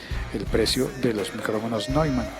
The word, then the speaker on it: Neumann: Neumann con doble N al final, pero se pronuncia Neumann.